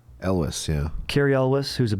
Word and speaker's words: Elwes: Elwes, yeah.